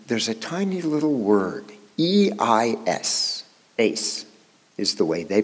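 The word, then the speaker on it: εἰς: In the Greek, there's a tiny little word, E-I-S, eis, is the way they pronounce it.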